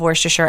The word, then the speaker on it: Worcestershire: Central ingredient with gin and a splash of Worcestershire sauce which apparently is hotly debated in New England it might be optional and it might not the worst shirt but I love Worcestershire and yes I'm pronouncing it correctly today sorry about that other